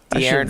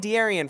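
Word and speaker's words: De'Aaron: amazing $8,000 35 minutes TJ dearon Fox did I say it right dearon yeah no you no you messed it up right there dearon Fox you had it it's you've been saying dearion for a while so I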